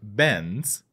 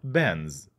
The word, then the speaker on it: Benz: Mercedes instead of Mercedes and Benz not bands Matt sadis bends by